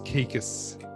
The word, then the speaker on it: Kaikis: show and good afternoon caicus did i say your last name right you did i was waiting to see if you were going to say it right you said it right thanks ramsay my pleasure